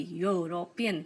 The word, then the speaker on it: European: European. Here is consonant sound. although here E is vowel, but this is like a consonant sound.